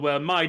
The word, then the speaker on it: Mai: And she's like, "Yeah, okay, my name's Mai Sakurajima. Mai as in my Sakurajima, and Sakurajima as in my Sakurajima."